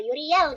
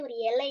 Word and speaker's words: Yurielle: setelah dijalankan kehidupan perpitubaran ini gitu ya, banyak orang Indonesia yang tidak bisa membaca Yuriel dengan seperti ada ala kadarnya gitu loh, Yuriel gitu kan. Akhirnya mereka bacanya Yuriele, Yuriele, akhirnya jadi gitu.